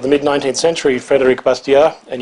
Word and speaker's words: Bastiat: mid 19th century Frederick bastia and you pronounce his name without the T at the end it's busted yeah um